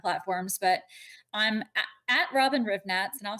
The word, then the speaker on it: Hrivnatz: all kind of platforms, but I'm at Robyn Hrivnatz, and I'll spell that out because my last name is very difficult. But Robyn is just Robyn, and last name is Hrivnatz, Hrivnatz.